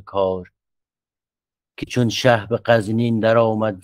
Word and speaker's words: غزنین: که چون شه به قزنین در آمد ز بلخ. اینجا معلوم میشه که تلفظش هم همین قزنین درسته به اقتضای بحث.